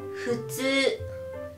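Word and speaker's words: ふつう: Tulad din po ng sinabi ko, pag isusulat po sa spelling na Romaji ay F-U po. Futsu, u. Pero pag ibibigkas po natin siya, ang pag-pronounce niya po ay futsu, futsu, futsu.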